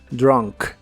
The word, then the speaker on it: drunk: en inglés es drunk la u de esta palabra se pronuncia como como una a drunk drunk y usaremos el